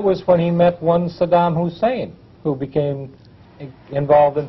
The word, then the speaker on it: Saddam: he was on camera he always dis pronoun mispronounced his name he always called him Sodom uh as though he were trying to call him a sodomite I don't know but